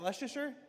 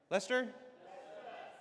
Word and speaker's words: Leicester: Is that Leasher? Lester. Lester.